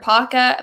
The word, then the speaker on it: Pacha: make it into the bracket was Pacha or Paca. Pacha. Is that how you say it? Pacha.